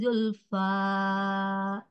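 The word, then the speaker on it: زلفى: Dua, dua huruf. kepanjangan saja Enggak, dua harokat. Iya, dua harokat. ila Coba, iya. Tadi Umi kebanjangan bacanya. Julfa, kebanjangan ya. Dua harokat saja. illa liyuqarribuna ila Allahi zulfa Ya, Zulfa, fa. zulfa Ya, jangan ada Hamzah belakang sayang ya.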